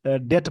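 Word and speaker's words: debt: खराब हो चुके हैं डे डेट बोलते इसको बी साइलेंट होता है डिस्टस मतलब प्रॉब्लम मतलब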